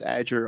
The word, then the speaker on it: Azure: It's pronounced Azure, almost like the cloud Azure, which you've heard they repeatedly said here.